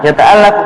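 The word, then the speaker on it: يَتَعَلَّقُ: Nah, yata'allaqu min au aqsamul kalam. Al-Jaza allati yata'allaqu minha. Afwan, yata'allaqu. Yang benar bacanya yata'allaq, yang disusun.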